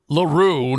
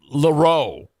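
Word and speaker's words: L'Heureux: say it either it's it's definitely R laru not Loro because someone ask the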